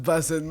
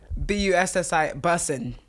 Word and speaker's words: bussin': Dinner tonight was bussin'. Like please, gosh. Boston. No. How do you spell it? Bustin? Bussi. Bussin'. Oh, bussin'. Bussin'. Not bustin'.